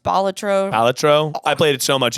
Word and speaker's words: Balatro: I'm playing Balatro, which is apparently not how it's pronounced. Balatro.